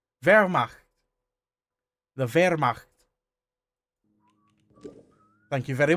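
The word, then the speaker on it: Wehrmacht: How is it pronounced? Vermach. Vermach.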